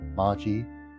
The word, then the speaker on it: Maji: Ah, should I hold the E a little bit longer, as implied by the two E's? Maji? Maji? Yeah, Maji.